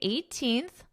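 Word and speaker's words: eighteenth: According to World Population Review, as of January 18th, so even though in the spelling it is not there, I'm going to pronounce that TH. As of January 18th, India's population reached 1.423 billion.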